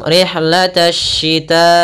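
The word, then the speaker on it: رحلة الشتاء: Cara membacanya, alif dan lamnya tertulis tapi tidak dibaca. Maka kita langsung rihlatash shita'i.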